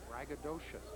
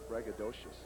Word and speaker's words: braggadocious: not trying to be braggadocious braggadocious braggadocious four syllables any relation to supercalifragilisticexpialidocious